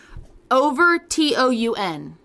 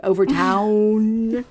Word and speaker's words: Overtoun: Overtoun. Overtoun. With a weird U. I would still say Overtoun. Okay. Overtoun Bridge. That's just easier than trying to go Overtown. Which now makes me think